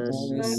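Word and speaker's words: الناس: Qul A'udzu a'udzu A'udzu birabbin birabbin birabbin nas. Nas. Ya, ini ditahan ya. Nun bertasydid, gunnah.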